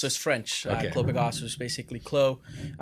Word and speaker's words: Clos: French blue macaws basically Chlo spell CL OS you know the French have a lot of words that have a whole bunch of silent letters in there so Clos basically means